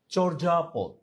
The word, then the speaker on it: চর্যাপদ: চর্যাপদ, চর্যাপদ, চর্যাপদ। এই চর্যাপদ শব্দটার সঠিক উচ্চারণ হচ্ছে চর্যাপদ।